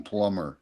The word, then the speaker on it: plumber: And where's the And what about like the b in plumber? Do you pronounce that?